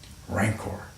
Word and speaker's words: rancor: Noun, adjective, hard C, soft C, rancor, rancid.